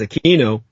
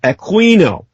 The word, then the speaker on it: Aquino: name with the K sound, Americanized as Aquino, the officers did the same. It was almost a show of passive resistance. And when anyone ever pronounced his name the way he wanted it, Aquino, everyone kind of shuddered